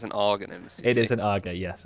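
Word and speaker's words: Aghanim's: Okay, so it's pronounced Arganims. Okay, Arganims.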